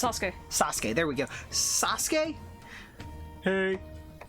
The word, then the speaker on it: Sasuke: do you pronounce no how do you actually pronounce Sasuke Sasuke there we go Sasuke hey and it's Sasuke